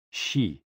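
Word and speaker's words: xi: associated with the spleen and x i pronounced like she which connects the whole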